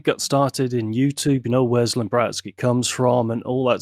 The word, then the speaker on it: ZlimBratSki: Just ZlimBratSki. ZlimBratSki. Yeah. ZlimBratSki. So many people go Bratski. No, just Bratsky. It's like pillow talk, isn't it?